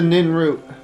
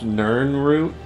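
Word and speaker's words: Nirnroot: Where's the Nin root? I hear it. Here it is. Actually, I think it's technically pronounced Nern root.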